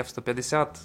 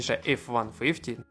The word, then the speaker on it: IIIF150: Конечно же прикольная фирменная надстройка от компании F150 точнее IIIF150 - нужно правильно говорить, она присутствует.